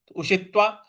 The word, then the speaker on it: उषित्वा: लोकाित्वा शाश्वती शाश्वती देखिए उषित्वा पे जो त था उस पर हमको बल लगाना है। उषित्वा और शाश्वती शाश्वती देखिए